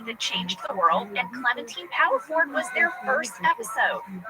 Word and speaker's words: Clementine: Yes, we called her Clementine Paddleford, but we have come to learn that her name is pronounced Clementine.